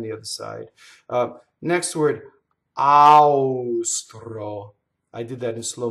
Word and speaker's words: austro: Austro, right? It doesn't rhyme with it.